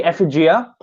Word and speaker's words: Effigia: Well, in English it should be effigia because it's based on an English word, effigy.